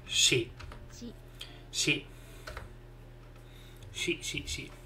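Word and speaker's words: し: You pronounce this as she.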